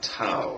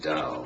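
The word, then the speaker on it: Tao: section called the the TA it's actually pronounced da but it's spelled with a t TOA so for instance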